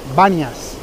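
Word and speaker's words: Banias: viene del dios pan pan ya sería con p pero como en estas lenguas semíticas sobre todo en el árabe no se puede pronunciar la fe entonces dicen ve bañas y aquí adelante este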